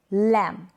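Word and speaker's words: lamb: Examples देख लेते हैं इन स्पेलिंग्स के, जैसे कि कॉम, बॉम, थम, क्लाइम, टॉम, क्रम, लैम। ये जो स्पेलिंग्स है यहाँ पर स्पेलिंग के लास्ट में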